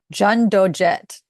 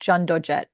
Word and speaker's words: Cheondojae: Korean Buddhist tradition, and it's pronounced, and I'm probably pronouncing this wrong, Jundojet. I believe that's how it's pronounced. It starts with a CH though, Cheondojae, but it's pronounced Jundojet, maybe.